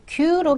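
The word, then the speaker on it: 九: 지금 숫자 만들게 하실 때는 q로 기억을 해 주세요. 그리고 쿠라는 애는 뭐 나중에 뭐 날짜 9월 달이라는 표현이라든가 아니면 9시 9지라든가 이렇게 꼭 구여야만 되는 어 발음이야 되는 때가 있습니다. 이제 그때 또 다시 얘기드릴게요.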